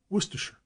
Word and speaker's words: Worcestershire: have often noted that Americans and speaking of the familiar Worchester Shire sauce commonly pronounced every syllable and enunciated Shire distinctly in England it is always Worcestershire in the footnote Norwich is